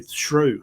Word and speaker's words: Shough: It's like through, but with an S. It'll be Shrew. Shrew, something like that.